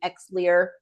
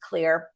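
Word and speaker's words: Xlear: a nasal spray called clear um it's spelled with an X so it really throws people off some people may know it to be exer but it's pronounced clear and uh every diaper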